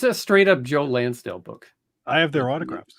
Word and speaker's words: Lansdale: attendees it was crazy is Joe land Landis what you say his name was Lansdale is that that guy